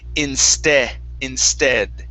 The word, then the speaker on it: instead: All right, now this last word here is a short E sound. The word is instead.